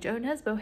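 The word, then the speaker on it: Jo Nesbø: me talking about how kind of seems like Joe Nesbo hates women because that is how you pronounce his name also maintenance came my my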